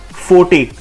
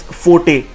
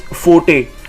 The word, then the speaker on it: forte: So our next word is forte. It's not fort or forte, it's forte. It means a thing at which someone excels. So it's forte, and it is pronounced as FO-TEI, forte.